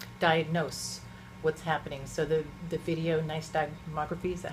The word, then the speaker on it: Videonystagmography: So the Videonystagmography, is that how you say it? Correct. Videonystagmography.